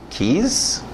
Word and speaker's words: keys: Você antigamente pronunciava, tentando ler o inglês, beijo, keys? Não, keys, na pronúncia, se você falar inglês, keys, chaves, ele vai me dar chaves? Eu queria um beijo. Kiss, aquele I aberto, som de E.